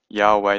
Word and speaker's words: Yahweh: of course it does Yahweh doesn't have this it doesn't sound the way the vows are so there's some disagreement with how to pronounce his name I choose to say Yahweh so don't be too